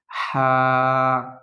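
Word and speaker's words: ح: করে পড়ার চেষ্টা করবেন আর হাটা হলকের মধ্যখান থেকে একটু বাতাস বের হবে প্রিয় বন্ধুরা এরকম আমার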